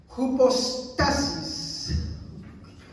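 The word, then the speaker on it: ὑπόστασις: Miren, esta palabra se pronuncia así: hypostasis.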